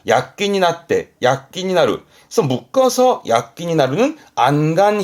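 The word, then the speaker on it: 躍起: 그래서 발음이 약기. 약기.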